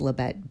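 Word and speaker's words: Libet: I believe it's pronounced Leette.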